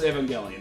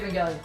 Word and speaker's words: Evangelion: Evangelion. It's weird because it sounds like it should be like evangelical. Yeah, that's Right? why I say Evangelion.